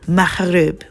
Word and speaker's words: Maghreb: which is often called Maghreb, in Arabic pronounced Maghreb.